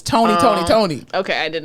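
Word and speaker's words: Tony! Toni! Toné!: you're probably in diapers that's not tone tone it's spelled weird right like all of them are spelled different yes but it's definitely tony tony honey i thought it was tone tone tone please eat her jinzy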